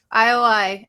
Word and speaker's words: IOI: 101 and was part of the girl group ioi is that how you say it yeah that's it ioi and um I think they only were around